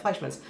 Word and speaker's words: Fleischmann's: Is it Fleischmann's, Mom? Is that how you say it? Yeah. I can't ever say that. Fleischmann's. That's like the W word for me.